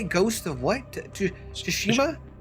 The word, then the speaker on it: Tsushima: Tsushima? Tsushima.